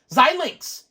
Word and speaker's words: Xilinx: Somebody pointed out how to pronounce it. Xilinx.